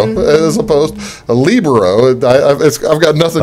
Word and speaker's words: libero: Well, it's actually pronounced libero. But yeah, that's the thing. So in Southern Illinois, nobody wants to say that. So yeah, that's what I've always thought. I've always kind of said libero and like Camaro.